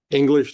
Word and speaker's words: English: English like it sounds?